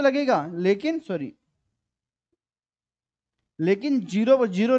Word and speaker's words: Nil: है उसके ऊपर जीएसटी लगता है जीरो रे ल के हिसाब से इसको हम ल प्रोनाउंस करेंगे जीरो प्रोनाउंस नहीं करेंगे ध्यान रखना इसको हम